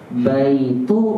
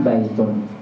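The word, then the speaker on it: بَيْتُ: Sehingga antum bacanya baitu bukan baitun.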